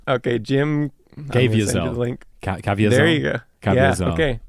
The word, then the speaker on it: Caviezel: But his name is he has an unpronounceable name. Okay, Jim Caviezel. Link. Caviezel.